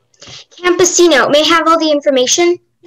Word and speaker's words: campesino: uh your word is campesino camposino may have all the information yeah so the only pronunciation is campesino it's and now and